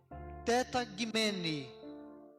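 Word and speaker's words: τεταγμένοι: Mas a fonética, a forma de pronunciar corretamente é tetagimene, é essa palavra grega usada aí.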